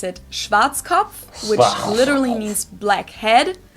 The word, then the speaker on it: Schwarzkopf: over the world pretty much in German we pronounce it Schwarzkopf which literally means black head English native speakers usually pronounce it Schwarzkopf or Schwarzkopf or something along those lines all right Deutsche